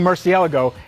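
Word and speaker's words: Murciélago: is my 2003 Lamborghini Murcielago and yes that is the right way to say it alright cold start in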